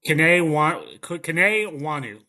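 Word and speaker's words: Kene Nwangwu: Kane Wanu.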